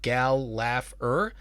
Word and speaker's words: Gallagher: My last name is spelled unusually. It's like Gal-Laugh-er.